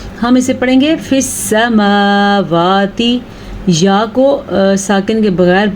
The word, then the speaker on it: السماوات: حرکت نہیں ہے تو اس لیے ہم فی سماواتی نہیں پڑھ سکتے، ہم اسے پڑھیں گے فی السماواتی، یا کو ساکن کے بغیر پڑھے ہوئے، ٹھیک